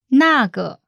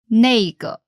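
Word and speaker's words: 那个: in chinese pronunciation note there are two ways to pronounce this and that in chinese for this for that nago or nego jager are used more often in colloquial speech keeping the conversation in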